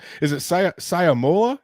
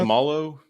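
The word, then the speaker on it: Seumalo: Is it Siamola? Is that how you pronounce? Samalu.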